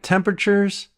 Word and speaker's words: temperatures: temp temperatures temperatures temperatures we don't pronounce the a sound in the middle of the word it's not temperatures it's